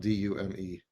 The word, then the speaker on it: Dume: And then they're like, "His name is Caleb Doom, but it's it's spelled D U M E."